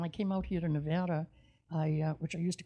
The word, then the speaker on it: Nevada: It's spelled the same way as Nevada, but they call it Nevada.